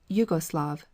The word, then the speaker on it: Yugoslav: concession to German transliteration, many prefer to write the word Yugoslav, which represents its pronunciation.